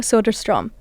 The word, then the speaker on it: Söderström: Today we're going to dive deep into the future of AI and audio with a true industry leader, Gustav Sodarstrom, co-president and chief product and technology officer at Spotify.